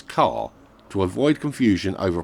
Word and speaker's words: Kerr: ker made clear that her surname should be pronounced the same as car to avoid confusion over